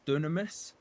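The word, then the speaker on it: Dynamis: Uh Dunamis. Yeah, I just felt the same. Well, it's it's read as Dynamus, right? They all pronounce it as Dunamis.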